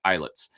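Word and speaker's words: Islets: Uh, spelled Isllets, but it's pronounced eyelets.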